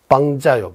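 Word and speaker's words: སྤང་བྱ: 그리고 티베트 말로 이거 빵자라고 하면 이제 빵자 제가 해야 할 바 소단이라고 해야죠. 소단. 그 견도소단, 수도소단 그거 있습니다. 용어가. 그 소단이 티베트식으로 발음은 어떤 발음이냐 하면 빵자요.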